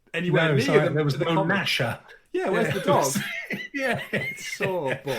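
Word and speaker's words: Gnasher: creatures yeah different indeed with a G that taught me how to spell with a silent G as well yes I used to call him gasha for so long when I was a kid but um anyway back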